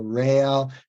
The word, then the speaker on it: Réal: n d r WS so rail just think real real and like real yeah like real yeah uh